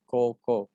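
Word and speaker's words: こうこう: untuk toko ini kan tulisannya koukou tetapi dibaca ya Koko Nah di sini kan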